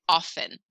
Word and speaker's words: often: know anybody that pronounces the T in often I say it often no we don't really say the T eight what is that